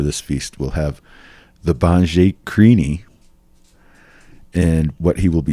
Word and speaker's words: Banjhakri: And Wolfman Puck will be having as a very special honored guest the Banjhakrini.